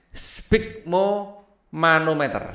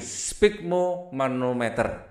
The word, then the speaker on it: sphygmomanometer: Nah, susah bacanya ya. Sphygmomanometer. Oke, lagi sphygmomanometer.